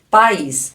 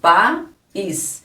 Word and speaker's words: país: temos um iato aqui país nós temos pa is nós precisamos separar por causa do acento aqui ó nós falamos bem separado ó pa is então este aqui O